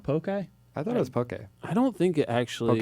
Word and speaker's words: poke: don't know you know it is pokey it is okay yeah okay nice sure it's funny because you wrote a whole article about it but you don't know how to pronounce it but it doesn't have the actual like e thing you know what i mean it's it is spelled p-o-k-e just flat no accent mark so the accent is just to make it pronounced that's what happened it's